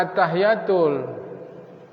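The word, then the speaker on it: التحيات: jangan salah lagi ya jangan bacanya attahiyatul itu jelas ada tasydid kok attahiyatul mubarokatuh sholawat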